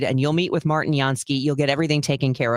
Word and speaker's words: Jansky: It's Jansky Law Firm. Now that's pronounced Jansky.